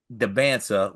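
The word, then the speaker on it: Dybantsa: It is can't as it rant Debansa.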